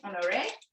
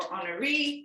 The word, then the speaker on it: Honoré: All right, so now we're gonna do a beautiful piping technique called Saint Honoré or Honoré. It depends on how you spell it or say it. It's Honore.